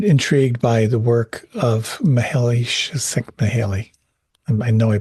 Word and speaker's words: Csikszentmihalyi: I've always been intrigued by the work of Csikszentmihalyi. I know I butchered the name, but he wrote the book Flow a number of years ago.